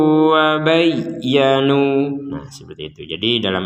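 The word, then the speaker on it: وَبَيَّنُوا: Wa bayyanu wa aslahu wa bayyanu, jadi harus ditekan wa bayya jadi ditekan, tidak sekedar wa bayyanu itu kan ketekanannya kurang, jadi ini betul-betul ditekan wa aslahu wa bayyanu.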